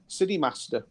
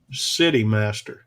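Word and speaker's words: KineMaster: you know well i i took it as cine as in cinema but with a k i see yeah so sydney city master yeah yeah i'm following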